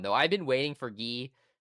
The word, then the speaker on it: Guy: I know it always in the subtitles it always says guy. Um I pretty sure it's pronounced G. Correct me if I'm wrong in the comments, but that's exactly what it sounds like in Japanese.